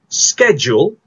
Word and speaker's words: schedule: Well, for this particular word, we have two ways of pronouncing it. You can either use number one, American English, which you pronounce as schedule, bunyi dia j, schedule.